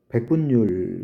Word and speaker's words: 백분율: 모음 뒤나 또는 니은 받침 뒤예요. 니은 뒤. 이때는 열이나 율로 읽는다. 예를 들면 백분율. 그래서 수학 시간에 나오는 백분율이 백분률이 아니라 백분율로 되는 거예요.